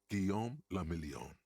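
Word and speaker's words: Guillaume Le Million: meant only one thing guillon la milione if it doesn't rhyme you're not pronouncing it right out of the dazzling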